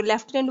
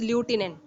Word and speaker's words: lieutenant: What made the lieutenant governor लिसन student, जो लेफ्टिनेंट words हम pronounce करते हैं, लेकिन अगर हम लिखेंगे तो हम actually what we feel it इज ल्यूटिनेंट, but it is word lieutenant we have to pronounce.